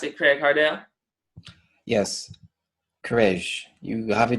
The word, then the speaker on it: Craige Hardel: Craig Hart Dale he is up there for nothing right put up your mutant all right that's how you pronounce it Craig hard out yes Krish you have a just about right